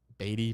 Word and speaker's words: Beatty: Beatty pronounced like Bidet.